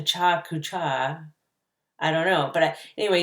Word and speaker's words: Pecha Kucha: week 3 you created a Pecha Kucha which i believe is the correct pronunciation i've had a friend told me it was a cha-cha-cha I don't know but